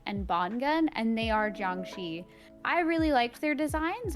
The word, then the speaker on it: Jiangshi: So it's pronounced Jiangxi.